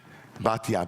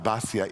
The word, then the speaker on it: Batya: Batya, Basya in Ashkenazi pronunciation.